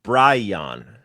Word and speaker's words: Bryon: I thought it was Byron, too. It's uh Bryon. O'Brien. With a Y.